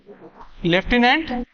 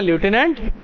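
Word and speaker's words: lieutenant: দুজন ছিল মনে রাখবে লিউটিনেন্ট উচ্চারণ করার পিছনে কারণ হচ্ছে এর স্পেলিং স্পেলিংটা লিউটিনেন্ট যদি উচ্চারণ হয় কিন্তু সেটা লিউটিনেন্ট নয় কি উচ্চারণ হবে লেফটিনেন্ট ঠিক তেমনি কলোনেল আছে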